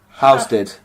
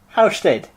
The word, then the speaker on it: Halstead: You don't pronounce the L. Halstead. Halstead.